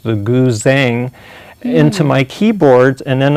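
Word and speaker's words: guzheng: actually had asian instruments especially the chinese zither pronounced the goo zheng into my keyboard and then i came up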